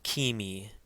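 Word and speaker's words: ⲕⲏⲙⲓ: Now here's an example of a word where the K takes a k sound. And this word is kimi, kimi. Again, remember the eta, which is the second letter in this word, has a long E sound like seek.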